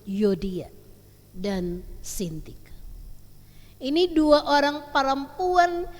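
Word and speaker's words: Euodia: yang pertama bicara tentang yodia dan sintike kalau pengucapan bahasa Yunani kita tidak menyebutnya tetapi langsung edan u menyebut yodia dan ini dua orang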